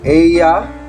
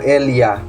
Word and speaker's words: ella: Ella es una estudiante. Again, we don't pronounce it ella or ella, but ella. So doble ella or doble L is pronounced as Y.